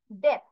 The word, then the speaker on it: death: So the pronunciation of this one is dead, D. But this one is death, TH, death.